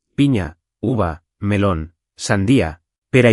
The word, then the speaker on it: piña: Y piña tiene esa ñ, como en España, piña, más o menos así.